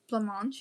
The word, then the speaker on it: blancmange: Blancmange, is that what you say? Yes. Is that how you pronounce it?